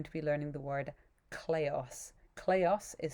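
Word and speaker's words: kleos: week we're going to be learning the word cleos cleos is spelt k-l-e-o-s and the word basically means fame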